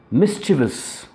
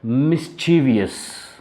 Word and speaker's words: mischievous: of fashion there are words they are regularly mispronounced even by the teachers for example mischievous this is the word and that's how it should be pronounced now when we talk about it they pronounce it as mischievious that's wrong why do we say that when